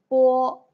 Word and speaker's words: 波: Bo. You need to use both of your lips, and there is no airflow.